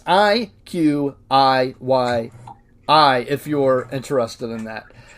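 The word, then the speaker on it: iQIYI: popular streaming services called IQI. I am probably not pronouncing that right. It's IQ Yi if you're interested in that.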